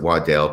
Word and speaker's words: Waddell: bishop w christopher waddell he wants to pronounce it waddell because pronouncing it waddle probably wouldn't be so good prior to travel restrictions